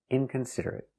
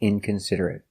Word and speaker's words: inconsiderate: that's right he's very inconsiderate so remember these important words they are not verbs so they are not pronounced eight but they are pronounced it remember desperate consolate Immaculate